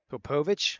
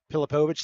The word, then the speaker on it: Pilipovich: Popovich. Is that how I'm saying that name? The freshman? Number 68 brought him down. Unfortunately, they didn't get a chance to go over name pronunciations because we were scrambling to get everything here. Pilipovich, thank you.